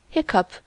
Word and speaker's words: hiccup: Hiccup has the sound of cup.